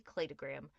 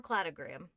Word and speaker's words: cladogram: Except that time I learned the one I saw was called a cllayoggram or clatogram. You may hear either pronunciation.